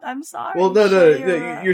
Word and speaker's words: Shayura: Shayura is I how keep I'm. saying it wrong. I'm sorry. Well, no. Shayura.